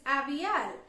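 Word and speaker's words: aviyal: mind he named it appial in the brackets we are given the way of pronouncing this word which is avielle so he named this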